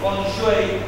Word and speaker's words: Feng Shui: Lo que los chinos en el Feng Shui Onshuei, como habría que pronunciar correctamente, llamaban las venas del dragón.